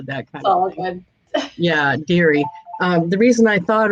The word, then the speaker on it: Dery: today we have dairy it's dairy am i saying it right very deary yep deary oh which is it it's theory right most people say dairy but it's actually french so it's dairy deery